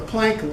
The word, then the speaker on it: Planck: The Planck length. Now, you notice I sometimes pronounce it Planck and sometimes Planck, which is the German pronunciation.